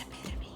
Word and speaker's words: epitome: Mondo was the epitome of the starry-eyed kid brother. It's pronounced epitome.